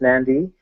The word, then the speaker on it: Nadi: is technically the mainland nandi or Nadi pronounced nandi is the main International